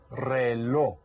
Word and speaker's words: reloj: Este es un reloj. Reloj. Can you say that? Reloj. You kind of have that H sound at the end because the J is there.